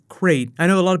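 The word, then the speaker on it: Crait: abandoned rebel base called crate I know a lot of people are like wait you mean like crate Dragon no it's spelled with a c but it does remind you of crate Dragon these are confirmed as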